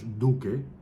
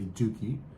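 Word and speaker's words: Duque: when you're involved and my last name is Duke which is correctly pronounced in Spanish Duke but a lot of people like to say dookie it's it's when you're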